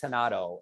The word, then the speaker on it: Renato: And so it's spelled like Renato, R-E, but it's Renato.